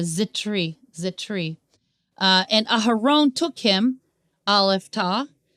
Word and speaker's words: Zithri: Uziel, Mishael, Elzaphan, and Zithri. I don't think you pronounce it as a TH sound. It's more of a Zitri.